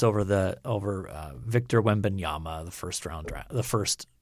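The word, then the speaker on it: Wembanyama: the hype is over the over uh Victor wendbanyama the first round the first overall pick is that how that name is pronounced yes he's like seven five wow that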